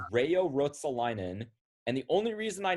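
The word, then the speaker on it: Reijo Ruotsalainen: part of the first name right so it's rayo rotsolinan and the only reason i know who this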